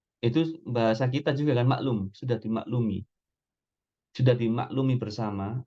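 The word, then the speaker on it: معلوم: bahasa kita juga kan maklum sudah dimaklumi sudah dimaklumi bersama artinya sudah diketahui bersama maklum pakai Ain jangan seperti bahasa kita pakai k maklum bacanya meskipun pakai k Tapi bacanya maklum Ya maklum maklum Antum ingat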